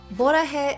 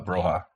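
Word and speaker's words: 보라해: Borahe Entertainment, created I think she mispronounced it. It's supposed to be called Broha.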